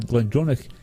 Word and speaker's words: GlenDronach: Daniel McAvoy says Glendronach is the whiskey that got me into.